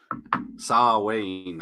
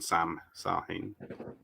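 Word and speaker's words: Samhain: You're trying to explain him a little bit there by saying he's Sar Wayne, I think, isn't it? Rather than Sam Hain. Gotta pronounce it Irishy.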